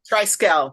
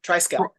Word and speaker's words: Triskele: author of the novel tricell did I pronounce the name novel correctly trical the final e is silent trical trical U Dr damato welcome